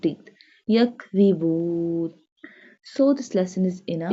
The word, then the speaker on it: يَكْذِبُونَ: يَكْذِبُونَ. This one the pronounced softly. This one the pronounced from the tip of the tongue touching the inner edges of the top two front teeth. يَكْذِبُونَ.